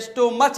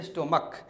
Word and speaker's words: stomach: Okay, तो जब भी आपको CH का साउंड क से, जैसे स्टोमच नहीं स्टोमक, मोनार्च नहीं मोनार्क, कॉन्च नहीं कॉन्क, तो इनका प्लूरल आप सिर्फ और सिर्फ एस लगा के बनाइएगा।